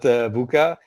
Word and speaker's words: VUCA: How do you pronounce that? Is it VUCA or just VUCA? Yeah, I would pronounce it VUCA.